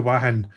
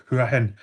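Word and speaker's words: Hua Hin: I'm going to go over to Wahin. It's spelled Huanhuia. Wahin. It's Wahin or Huahin.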